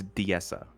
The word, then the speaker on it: Diessa: How the hell do you pronounce that? Disa Plateau? Disa Plateau? I believe it's Diessa.